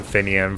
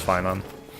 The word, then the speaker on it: Finan: for a long time, even though I knew it was Finan. I kind of stopped using it recently because I kind of like Finan and how it's pronounced.